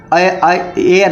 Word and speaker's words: heir: पर उत्तराधिकारी होता है, एच का हम यहाँ पर जो है प्रोनाउंसिएशन नहीं करते हैं, कभी कभी ऐसा भी हो जाता है। तो यहाँ पर ध्यान से देखेंगे, ये एयर का हो रहा है, HEIR मीन्स एयर है, ये हेयर नहीं है, ठीक है।